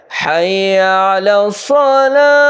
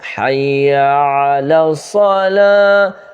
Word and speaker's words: حی علی الصلاۃ: Point یاد رکھنا ہے، حی علی الصلاۃ۔ اچھا، حی علی آ رہا ہے ہا سے، حی علی الصلاۃ، اور جو عین ہے